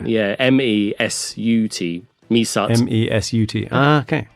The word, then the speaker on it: Mesut: And it's spelled M-E suit as a S-U-I-T. No I, so it's just a weird thing. So it's M-E. Oh, there's no I? Yeah, M-E-S-U-T.